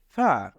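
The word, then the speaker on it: فاء: ফা এটাকে বলবো ফা ফা এর উচ্চারণ হবে আমরা যদি দাঁতের আমাদের আগার সাথে নিচের ঠোঁটের আগা মিলাই তাহলে এভাবে উচ্চারণ হবে ফা আমরা আবারো বলবো ফা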